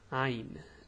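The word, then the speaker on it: عين: name is ein now the pronunciation is hard the way you pronounce it is haha it's ah it's like that eh but it's deep from the throat well I I don't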